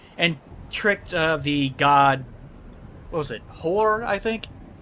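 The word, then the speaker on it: Hoor: Hor, I think? H-O-O-R, by the way. Hor, I know how to pronounce it.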